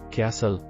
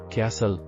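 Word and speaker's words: castle: cell and letters ಅಂದರೆ ಇಂಗ್ಲಿಷ್ನಲ್ಲಿ ಕೆಲವು ಪದಗಳಲ್ಲಿ ಬರೆಯಲ್ಪಟ್ಟರು ಉಚ್ಚಾರಣೆಯಾಗದ ಅಕ್ಷರಗಳು ಎಂದು ಅರ್ಥ ಉದಾಹರಣೆಗೆ ಕ್ಯಾಸಲ್ ಕೋಟೆ ಇಲ್ಲಿ cell and letter D ಉಚ್ಚಾರಣೆಯಾಗುವುದಿಲ್ಲ ಕ್ಯಾಸಲ್ listen ಕೇಳುವುದು cell and letter D listen island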